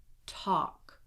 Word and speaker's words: talk: So in all of these words here, the L is silent. Do not pronounce it. Here we go. Would, should, could, walk, talk, half, chalk, salmon.